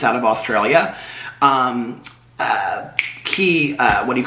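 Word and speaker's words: Quay: really obsessed with key it's spelled q-u-a-y but it's pronounced key and it's out of australia um uh key uh what do you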